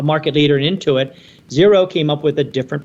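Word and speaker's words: Xero: in New Zealand and it's a company called zero x e r o is how it's spelled uh small business accounting software um think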